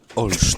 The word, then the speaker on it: Olsztyn: I'm going to tell you how to pronounce where she comes from. Okay. Olsztyn.